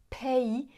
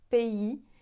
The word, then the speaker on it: pays: Elle dit permis, pays et turbulence. J'exagère un petit peu, mais c'est ça l'idée. En français, on va dire permis, pays, turbulence. On souffle pas en prononçant ces sons de consonnes.